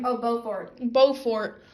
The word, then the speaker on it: Beaufort: It's like the beginning of Beautiful and like the end of Pillow Fort. So it's like Beaufort. So there's this character called like Julius Beaufort, and he's like literally identical to Gatsby.